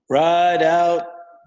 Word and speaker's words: Rideout: Is that the way you pronounce your last name, Rideout? Yep, just like it's spelled. Rideout.